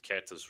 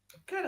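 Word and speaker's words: Queta: Think I'm mispronouncing Neimus Kata's name wrong. Kata is fine.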